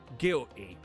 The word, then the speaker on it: guilty: He He didn't pronounce the T. Gilly.